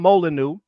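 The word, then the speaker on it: Molineux: There was a dude named There was a dude named Tom Molyu. It's spelled with the French way. M O L I N E U X I believe he fought in the early 1800s.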